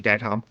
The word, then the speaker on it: Dedham: Dedham. Like Deadham.